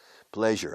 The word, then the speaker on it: pleasure: Ahora bien, hay que pronunciar bien. Pleasure. Pleasure es plaisure, claro. Es un placer. Pleasure. Je. ¿Sabes francés? Je suis. Je sais. Je. Pleasure. Claro, es un sonido que no existe en español.